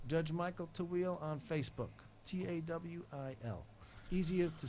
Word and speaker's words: Tawil: Tawil. Easier to spell than it is to say. Aha. Yes. And I have pronounced it wrong every time till now.